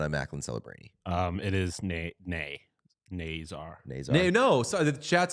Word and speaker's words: Nazar: Incorrect pronunciation. It's Nazar, according to this college hockey pronunciation guy.